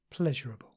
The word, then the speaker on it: pleasurable: pleasurable. And sometimes people say these two words with 4 syllables, comparable and pleasurable, but the more standard and common form is just 3 syllables. Comparable, pleasurable.